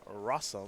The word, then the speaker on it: Rosum: ahead right now over jonathan rossum which of course rhymes with awesome hey you're not supposed